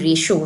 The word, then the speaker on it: rho: ये Greek letter है जिसको प्रोनाउंस करते हैं रो स्क्वायर, RHO रो स्क्वायर।